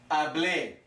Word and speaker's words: hablé: So yo hablé. Tricky, huh? We've got an A with an accent. So the emphasis is on the last syllable.